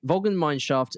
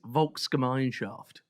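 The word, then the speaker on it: Volksgemeinschaft: Vulgan mineshaft means the people's community. Can we can we have a clear pronunciation please? It's Vulka Mineshaft.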